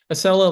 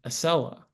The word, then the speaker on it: Acela: Acela languished in testing.